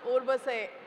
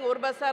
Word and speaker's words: Urbaser: I think the first thing that I learned today is how to pronounce Urbase. We were saying Urbasar, Urbasar all the time.